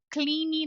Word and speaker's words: clean: então verbo Clean limpar termina com o som n n é um som de n não é Clean não é Clean tá porque a gente já trouxe essa palavra pro português e também e a gente ignora completamente o n no português o que não tem problema nenhum mas no inglês não é legal fazer isso então a gente precisa dar